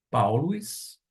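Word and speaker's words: Παῦλος: Vamos agora fazer a pronúncia, palavra por palavra, do versículo de número 1. Paulus, doulos, Iesu, Christou, kletóis, apóstolos, aforismenos, eis, evangelion, teu.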